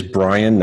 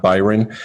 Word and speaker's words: Brian: It is Brian, not Byron. A lot of people get that mixed up because it's spelled a little bit differently.